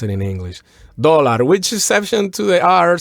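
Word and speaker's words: dólar: in the word dollar the accent is on the first syllable yes just like in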